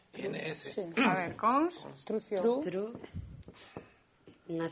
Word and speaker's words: construción: Ti pronuncias con dous Cs. Construcción. Carlos pronuncia con dous Cs. Como pronunciamos os galegos? Construcción. Con unha. Con C. Ti que crees, Luisa? Os galegos casi sempre con unha.